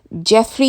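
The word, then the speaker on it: Geoff: இப்போ இன்னொரு brother Jeffrey தான் அதை சொல்லணுது. GEO இருந்தால் கூட இதை ஜாஃப்னு ப்ரொனவுன்ஸ் பண்ணக்கூடாது, இது ஜெஃப் தான்.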